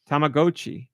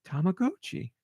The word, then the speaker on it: Tamagotchi: that is pronounced tagoi as in stop and go oh and it makes sense because it's Japanese but my whole childhood has been a lie tamag GOI tamag GOI all right I can